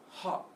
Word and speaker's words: hot: but most of the time it's going to be pronounced with an ah sound. So not hot, but if you say